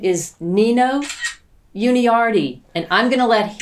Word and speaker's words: Nino Yuniardi: i live in seattle my name is nino uni rd uh that's how i pronounce it yeah um yeah and